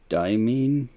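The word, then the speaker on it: Deimos: And Diamine, I think is the pronunciation, is slowly moving away.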